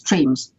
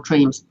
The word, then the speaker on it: tremes: I should say I call these third replicators tremes, sort of try for three, and rhyme with memes, so teams or tremes.